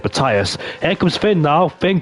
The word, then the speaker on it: Matthias: One of my mates is called Matthias. He's Norwegian and we pronounce it that way, but I know in Dutch it's Matthias.